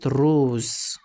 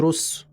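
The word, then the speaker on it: rose: سي اتنطق اس انما امتى يتنطق زد شبه كلمه روز انا قلت روز ز مش اس مش رس فهو كده اتنطق زد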